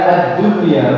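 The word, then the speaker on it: الدنيا: pada empat kata berikut jadi ini bacanya addunya bukan adduya ya sinw bukanwanun yauminwanun Bukan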